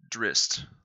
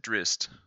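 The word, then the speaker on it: Drizzt: it and he said drist like the two Z's make like the sound likeing Pizza he said drist with a t on the end so there it is drist drist D eron I like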